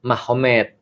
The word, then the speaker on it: Magomed: Jadi tulisnya Magomed, tapi bacanya Mahomet.